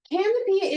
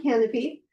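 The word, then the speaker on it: Kanopy: Canopy spelled with a K. Canopy is for the independent films, the classic films, the documentaries.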